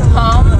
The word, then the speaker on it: palm: of palm trees wow silent L palm tree It's a p like your palad let me oh